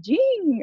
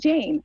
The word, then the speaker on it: Jane: Y me recuerdo que siempre me decía, y ahora con ustedes, Jean, o sea, mi nombre creo que lo pronunció, pero creo que eso era parte de su ¿Cómo se forma.